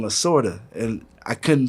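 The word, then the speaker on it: Lasorda: So like, so I would be like I would just say something like Tommy Lada. That's how I pronounce his name and they'd be like who? I'm like Tommy Lada. And it's like no, Tommy Lorta.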